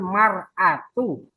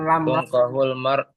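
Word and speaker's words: المرأة: Tungkahul mar'atu. Bukan lamrat. tungkahul mar'atul arba'i lima Arba.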